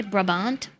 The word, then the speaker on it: Brabant: do you say it you actually say brabant is a province both in the Netherlands and in Belgium in Belgium it is